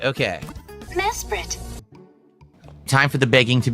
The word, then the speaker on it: Mesprit: It's pronounced Mesprit. Okay. Mesprit.